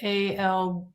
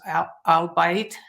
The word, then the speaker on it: albeit: um like you know the word a-l-b-e-i-t and I thought it was out I'll bite yeah yeah it's albeit exactly really yeah originally